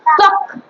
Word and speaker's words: ত্বক: এটার কিন্তু উচ্চারণটা একটুখানি মাথায় করে, এটা কিন্তু ত্বক হবে না, ত্বক, বাংলায় কিন্তু ত্বক হয়ে যাচ্ছে, এটা হবে ত্বক। ত্বক একটা ভ আছে, ত্বক।